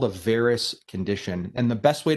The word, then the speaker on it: varus: end that's called a varus condition and the best way to remember this is that varus rhymes with air and so air can